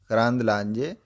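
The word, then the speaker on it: Karandlaje: बीजेपी एमपी and union minister Shobha, BJP एमपी हैं, बीजेपी के सांसद हैं, एंड यूनियन मिनिस्टर हैं, केंद्रीय मंत्री शोभा करांदलाजे, इसका प्रोनाउंसिएशन है करांदलाजे, वन ऑफ द सिग्नेटरीज,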